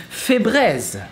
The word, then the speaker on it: Febreze: So to pronounce Febreze, it's fée, like a fairy but in French. Bré, like braise.